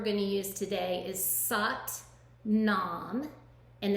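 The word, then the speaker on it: Sat Nam: the mantra we're going to use today is saat nam and it's spelled s-a-t-n-a-m and it means truth is my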